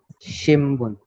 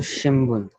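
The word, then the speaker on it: 新聞: और एम्पित्सु के, क्योंकि इधर बी साउंड वाला है, ये है, ये बी साउंड का है और ये पी साउंड का है, इसलिए ये मोरा अम, मोरा को हम प्रोनाउंस करेंगे।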